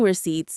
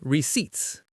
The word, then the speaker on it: receipts: The P is silent. You don't say receipts, you say receipts.